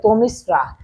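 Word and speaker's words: তমিস্রা: থেকে প্রশ্ন হয়েছে তো এটির সঠিক অ্যানসার হচ্ছে তমিসরা তমিস স্বরাফ আকার এটি হচ্ছে একসাথে হবে পরবর্তী এমসিকিউ হলো এ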